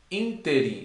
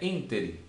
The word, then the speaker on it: ínterim: Interim, e não interim, é ínterim.